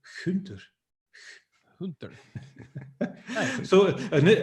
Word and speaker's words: Gunther: on the planet that have this soft G. So we don't say Gunther or whatever, we say Gunther.